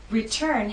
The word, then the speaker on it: return: Return has two syllables, but it's the second syllable that is stressed. T is at the start of that syllable, so we say return.